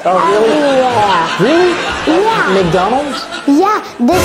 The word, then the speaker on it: McDonald's: McDonald's. Once again? McDonald's. Once again? McDonald's. Vous voyez comment il prononce ça? Mc. Il n'a pas dit Mac. McDonald's. It's like M-I-C.